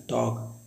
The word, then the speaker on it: talk: तो सिंपल सा है KDFM, KDFM याद करिए कि KDFM जब कभी आए, KDFM से पहले एल आए, एल साइलेंट होता है।